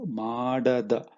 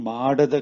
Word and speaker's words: ಮಾಡದ: So ನೀನು ಮಾಡದ. So you see this ಮಾಡಿದ and ಮಾಡದ, they sound very similar, right? So that's why you have to be very careful when pronouncing it. Okay, so Ninu Madada Kelasa means the work that you did not